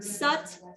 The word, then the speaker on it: sat: slightly different words but i like sat and it's that short a sound so it's uh it's spelled like sat like i sat down but it's uh it